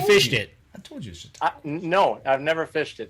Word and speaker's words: Chautauqua: Okay, we'll let you pronounce the lake name. Chautauqua. Have you fished it? I told you Chautauqua.